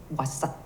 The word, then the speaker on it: Awasat: ça c'est en Innu, Awasat. Ils ne prononcent pas le A vraiment très fort, c'est Wasat.